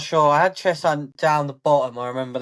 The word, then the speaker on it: Cheshunt: both got to make, really, is the way that you're pronouncing Chess Hunt, because it's not Chess Hunt, it's Cheshunt.